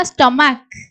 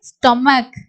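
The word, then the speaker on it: stomach: தான் வரும் அதே மாதிரி பார்த்தீங்கன்னா ஸ்டோமக் சோ இங்கயும் வந்து இந்த சி சவுண்ட் தான் இக்குன்னு முடியும் ஹச் க்கு வந்து சவுண்ட் இருக்காது ஓகே ஸ்டோமக் அதே மாதிரி எக்கோ சிட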